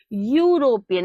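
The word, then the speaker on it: European: से लिखते हो लेकिन जब इसका प्रोनंसिएशन करते हैं तो वो किससे आता है यूरोपियन ऐसा लगता है वाई ओ यू प्रोनाउंस किया जा रहा हो यूरोपियन इसी इसीलिए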